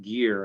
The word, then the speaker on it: Gehr: cpa and that's gehr and he's with peter j gilman pc he happens to specialize in working with real estate investors sorry that it's pronounced gear actually here sorry thank you